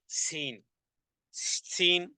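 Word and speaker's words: سين: এরকমের কিছু আওয়াজ আসবে এভাবে করে জিহ্বার আগা সামনের উপরের সামনের উপরের দাঁতগুলোর গোড়ার সাথে লাগিয়ে দিয়ে জিহ্বা দিয়ে এভাবে উচ্চারণ করতে হবে সিন সিন যদি এভাবে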